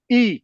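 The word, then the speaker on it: 義: right yep okay so that Chinese character e pronounced at the four tone and meaning Justice the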